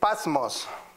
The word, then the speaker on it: Patmos: He was in a prison called the Patmos.